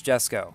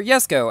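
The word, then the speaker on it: Jesko: definitely go for this Jesco or yes go as people like to keep telling me it's actually pronounced that race we nearly beat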